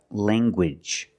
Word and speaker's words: language: hard G sound like language language you have the nasal sound Lang and the hard Gage language language I have one